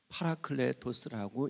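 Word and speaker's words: παράκλητος: 헬라어로는 파라클레토스라고 읽게 되는데, 이 말은 돕는 자, 위로자, 탄원자, 대원자 혹은 변호자라고 하는 의미를 담고 있습니다.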